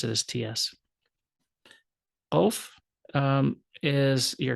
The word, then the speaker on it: Qaf: Qaf is your Q sound. And if you notice, it sounds a little different than Kap. Kap is just K. Qaf is a guttural K, but like a sound.